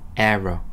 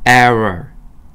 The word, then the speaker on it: error: 혀가 뒤로 넘어가야 돼요. 혀 입천장을 대면 안 됩니다. 여러분 에러 한번 해보세요. 에러, 에러, 러 할 때 천장이 닫혀. 그러면 안 됩니다. error, error 이렇게 돼야 돼요.